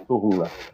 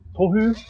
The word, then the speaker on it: Tohunga: That's Tohunga is our word for shaman. Tohunga. What was it? How to say it? Tohunga. Tohunga.